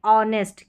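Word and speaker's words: honest: इसके बाद में एच के बाद में। तो यहां पर एच साइलेंट है।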